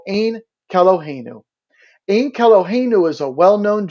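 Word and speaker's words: Ein Keloheinu: jewish services it's called ain calogeno in calogeno is a well-known jewish hymn orthodox jews pronounce it as ankelo kenu when referring to it outside of prayer in order to avoid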